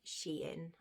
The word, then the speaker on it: Shein: I don't know, I'm guessing everybody has heard of the brand Shein. I call it Shein. I've always called it Shein. Apparently it's called Shein. I've been pronouncing it wrong the whole time.